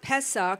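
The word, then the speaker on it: Pesach: teach on this but what Passover actually means or past Pesa that's how they say it means to throw yourself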